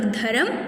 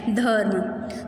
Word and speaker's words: धर्म: Okay, इसको हम लोग धर्म नहीं बोलेंगे, यह है धर्म।